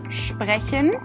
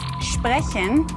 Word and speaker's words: sprechen: This one is about the sound of ST and SP in German. It's a very easy rule, but still, I hear a lot of people making mistakes when they pronounce the following words in German. So this is why it's still a very important rule. As an example, we have the words sprechen and Stadt.